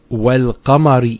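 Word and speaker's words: وَالْقَمَرِ: Then we have wal-qamari idha talaha. Wal-qamar. See, notice the lam here has a sukoon on it.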